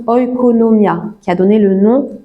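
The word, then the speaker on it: oikonomia: qu'on traduit par dispensation c'est un mot grec qui se qui se prononce oconomia qui a donné le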